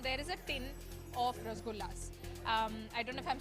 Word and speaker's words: Rasgulla: Lost count of how many Rasgullas. Okay, so how do you say it? We say it Rasgulla.